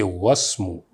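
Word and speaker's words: واسم: But whenever waw comes with ismun, you say wasmu.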